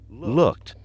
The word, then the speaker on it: looked: Looked. Looked. It's another one that sounds like a T at the end.